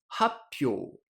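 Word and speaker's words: 発表: Et puis, le second kana du premier kanji est devenu une pause. Happyo. Et c'est beaucoup plus facile à prononcer.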